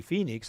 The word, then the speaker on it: Fenix: This is the Fenix, that's pronounced Phoenix, like the city north of us, those of us in Tucson.